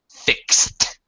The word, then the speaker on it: fixed: small thing pronunciation claudo fixed fixed yeah the Ed here after an X mix mixed fix fixed box boxed as a t sound right than sure damper